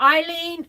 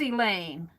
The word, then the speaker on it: Elaine: Oh, I said it, Eileen. Oh, I might have. Yeah, it's Elaine. Thank you, Allie K. Yeah, I think I said it wrong before because I think I did say Eileen. Yeah, you're right. It's Elaine.